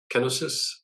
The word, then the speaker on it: kenosis: us about kinosis and is is that the the right pronunciation kenosis no I think you got it absolutely right and I think it's